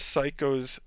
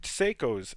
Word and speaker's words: Seiko: orb here which is psychos or psychos let me pronounce that right seiko's cell phone and then